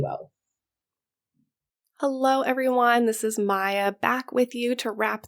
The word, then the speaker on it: Maia: Once again, I have put that information in the show notes, but the code is my first name, Maya. So that's spelled MAIA 10, the number 10, 10, Maya 10.